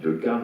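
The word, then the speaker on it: Decaë: Alors, en ce qui concerne Henri Decazes, pardon, on dit Decazes, on ne prononce pas le « on dit comme on veut.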